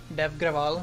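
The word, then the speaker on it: Dev Agrawal: This is like the closest way to spell out my name so that you know how to say it. But yeah, I'm not gonna have that on my name. Dev Graval, so just get rid of the A from there.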